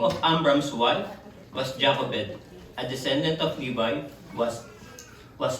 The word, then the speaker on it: Jochebed: Sabi nila sa Hebrew, pag pronounce nyo dapat Jochebed. Yung medyo may plema.